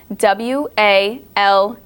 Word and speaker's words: walked: For example, we don't say walked as walked. This is because of this rule, because it's spelt W-A-L-K-E-D. See how after the A, those are 2 consonants after the first short vowel. That means that the ED is not a separate syllable. It's just walked.